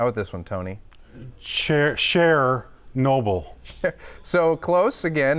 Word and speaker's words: Chernobyl: Cher Noble. So close again. It's actually, most people say what? I've always said Chernobyl. Chernobyl, but actually it's Chernobyl. Yeah, I mean, Apparently. really. That's how you really pronounce HBO got the entire documentary wrong.